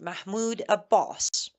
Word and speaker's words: Mahmoud Abbas: took pictures with Trump, was Mahmoud Abbas, or better pronounced Mahmoud Abbas, the so-called leader of Palestine.